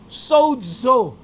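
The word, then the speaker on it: σῴζω: Yung pong saved na yon, makikita niyo po dyan sa screen, ang Greek word po nun ay sozo. Okay? S-O-Z-O. Sozo. Ang bigkas po nun.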